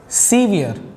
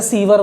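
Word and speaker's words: severe: और कॉजिंग आ सीवियर, अच्छा इसे सीवर बोलते हैं कुछ लोग, भाई वो नाला होता है, सीवियर बोलते हैं इसको।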